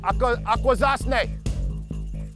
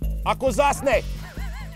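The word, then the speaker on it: Akwesasne: Akwazasne. Akwazasne.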